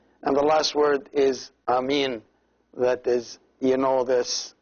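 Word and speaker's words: ⲁⲙⲏⲛ: That is, you know this in all languages, the same word, and it is two syllables, a, and then mean, which with the long two eyes attached together, so it is amin.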